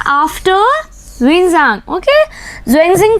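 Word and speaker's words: Xuanzang: तब आए थे ज़ुएनज़िंग। ओके, ह्वेनसांग भी इनको प्रोनाउंस किया जाता है इन संस्कृत लैंग्वेज में।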